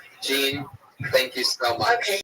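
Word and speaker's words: Jeanne: it's Jean l but if you're going by my Annunciation of her first name you will not find her on Twitter so I'll spell that out for you it's spelled like thean j a n n e l all one word Jean with a silent n and E after as a host I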